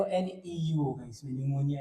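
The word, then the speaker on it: pneumonia: अब ध्यान ये रखना है कि न्यूमोनिया की स्पेलिंग होती है वो पी से शुरू होगी, जैसे साइकोलॉजी है तो पी से शुरू होता है ना।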